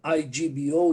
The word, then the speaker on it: Igbo: Igbo is written I-G-B-O, you don't pronounce the G.